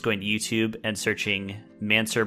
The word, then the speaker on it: Mansour: to YouTube and searching mansur barami and it's spelled like man sour uh Wimbledon so let's